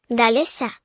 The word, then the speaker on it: galés: then if male and galissa if female we have the same pattern with the stress the stress falls where the accent is with galis and on the second to last syllable of galisa.